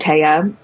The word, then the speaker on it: Thea: uh but you know it's TAA it's t EA so I get a lot of mispronunciations because people think it's Thea which is fair um I